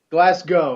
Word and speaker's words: Glasgow: thing he said was you always must pronounce it it's classical glass go okay glasgow uh jolie he's from